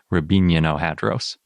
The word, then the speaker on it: Riabininohadros: But I looked up the Russian pronunciation, and I'm pretty sure it's more like Rabino-Hadros.